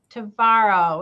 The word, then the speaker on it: Tvaroha: And without further ado, I would like to introduce my guest today, Christine Tvaroha, which rhymes with tomorrow, who is our Director of Senior Services here in Bloomfield Township.